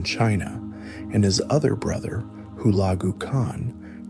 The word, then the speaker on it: Hulagu Khan: Song dynasty in southern China, while Hulagu Khan, pronounced Hulagu Khan, was given the mission of destroying the remaining Islamic caliphates in the Middle East.